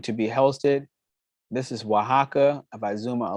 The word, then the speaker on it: Oaxaca: The next closest location is Oaxaca, which is actually spelled with an O.